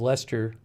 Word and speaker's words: Leicester: tang a clinical virologist at the university of leicester said i think this is lester how you pronounce that um despite the earlier misgivings about